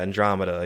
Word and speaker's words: Andromeda: it how do you say it is it Andromeda or sorry yeah Andromeda yeah that's I don't really acknowledge that one